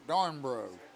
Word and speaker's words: Darbro: he does darn brro I pronounce his name wrong it's darbro Joey dnro a senior wide